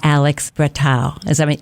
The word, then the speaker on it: Alex Bretow: And my guests today are director, writer Kourosh Ahari and producer Alex Bretow.